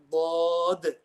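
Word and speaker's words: ضاد: But inshallah, we'll discuss the letter Dad in depth.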